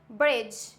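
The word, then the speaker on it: bridge: आता है हमारा डी डी साइलेंट लेटर कब होता है जी से पहले आया तो अगर जी है और उसके जस्ट पहले हमारा डी आता है तो डी हो जाएगा silent for example ब्रिज एज हैज वेज यह वर्ड वो है जिसमें डी है साइलेंट तो आई होप आप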